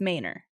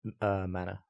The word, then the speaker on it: Manor: So in Austin, for the street, it's Manor. Right. But if you're talking about a house, it's Manor. It's a manor. But Also, the GPS says manor.